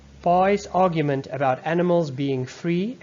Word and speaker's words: Pi: The scene explains how he came to be known as Pai. His classmates deliberately mispronounce his name as Pissing.